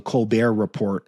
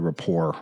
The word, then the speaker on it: Colbert Report: then on something called the Colbert Report, which they wouldn't pronounce the T. They'd call it the Rapport or something.